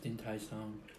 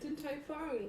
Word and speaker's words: Din Tai Fung: Your first mukbang experience, and then your first Din Tai Song, Tai Ling Long. What is it? Din Tai Fung. Did I say it right?